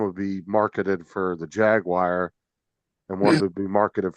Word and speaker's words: Jaguar: be marketed for the Jaguar, and wanted to be marketed for the Come other on, car, but say they were the the name. same exact. Jaguar. Not Jaguar. Jaguar.